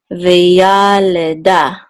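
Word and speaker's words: וְיָלְדָה: So it's veyaleda. Okay, so veyaleda. The accent mark is here on da, but it wants you to accent this syllable more than this and this. Veyaleda. Okay, as opposed to maybe veyaleda. This is kind of short, this is longer, this is short, and this is the longest.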